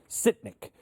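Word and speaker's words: Sytnyk: Sitnik.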